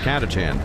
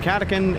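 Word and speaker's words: Catachan: Like, fun fact, I actually do know it's pronounced Katachan. I just prefer saying katakin and also for for saying it that way because it makes people annoyed.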